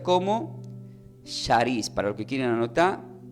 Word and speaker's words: charis: Se pronuncia como charis, para los que quieren anotar, C de casa, H, A, con acento, R, I, S.